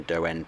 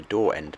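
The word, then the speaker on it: Daw End: We're now going to carry on down the do end branch, which in my last video I called the door end branch, but in fact it is pronounced dough as a lot of people said in the comments.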